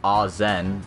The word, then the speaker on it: Ashen: Well, I'm not sure what to think about Ashen so far. I mean, I'm pretty sure it's pronounced Azen, but don't worry about that.